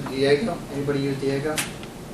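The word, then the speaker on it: Diigo: ate them anybody use Diego eii geo is pronounced Diego it's a place where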